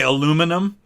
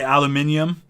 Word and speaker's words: aluminium: is more annoying oh because we say aluminum and you gotta say aluminium what president would i